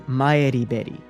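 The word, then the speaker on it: Maribel Hearn: and renko usami though maribel's original pronunciation is closer to mayad bet however she says that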